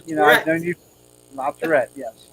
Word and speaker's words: La Tourette: La Tourette, yes. I always used to say Lotteretti, but I was corrected. That's not how you say his name.